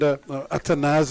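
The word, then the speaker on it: Athanaze: Here's Ashwin again, bowling to Atanaz, coming down, and Atanaz, as he's more corrected pronunciation of his name.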